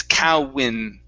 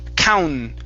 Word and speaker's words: count: the end there okay so what we don't want to say is kao win okay so we don't want an in sound it's okay all right so what you're doing you're adding an extra vowel sound you're saying cow when okay okay almost one more time so count counter count okay so this this